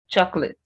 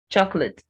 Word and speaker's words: chocolate: breathe breathe breakfast breakfast chocolate chocolate the second o is not pronounced at all cruel cruel so it's